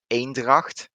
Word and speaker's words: Eendracht: we got the tier 7 cruiser which is aindracht that's another city name right on tier viii